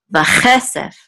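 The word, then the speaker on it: וָכֶסֶף: So this is vache sef. So the accent is on this syllable, vache sef, and this means and silver, vache sef.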